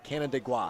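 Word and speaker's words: Canandaigua: It's almost like Canada, but not quite. C A N D A I G UA. Canada gua.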